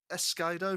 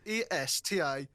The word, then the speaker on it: Estacado: Is it Monet? Escardo? Tom, you need to do your pronunciations for us. Pronunciations is a crazy way to say that word. What am I Sorry, doing? Estacado. It's Estacado. How would you pronounce that?